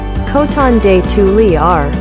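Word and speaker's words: Coton de Tulear: lower maintenance short clip instead number 18 cotton detoulier pronounced and quad cotton day 2 li r and quad this charming companion breed will follow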